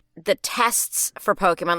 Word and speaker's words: Pokémon: and it still gets to me when people pronounce it because it's Pokemon is is the way it's supposed to be